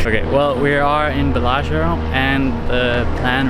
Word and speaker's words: Bellagio: Bellagio. Yes. So we are currently there. And I'm learning Italian. This is for you guys who got confused. Yes. Okay. Well, we are in Bellagio, and the plan right now is to find